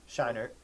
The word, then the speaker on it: Scheinert: Yeah, Daniel Scheinert. Scheinert, who previously did the movie The Swiss Army Man with Daniel Radcliffe and Paul Dano!